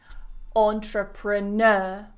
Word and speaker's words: entrepreneur: next one entrepreneurial entrepreneurial so notice how that primary stress the main stress always falls on that n entrepreneur entrepreneurial entrepreneurship it always goes on that Nur syllable do you want to